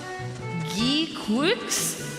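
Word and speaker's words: GQuuuuuuX: Okay, it's pronounced Geek Quicks, a new Gundam series.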